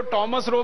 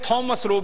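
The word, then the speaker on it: Thomas Roe: अंग्रेज उसको टॉमस रो भी कहते हैं, थॉमस रो भी कहते हैं, दोनों उच्चारण उसके नाम के हैं।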